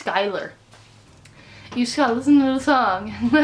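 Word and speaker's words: Schuyler: like Xiao it looks like shoe eular it's skyler use cousin little song but it just do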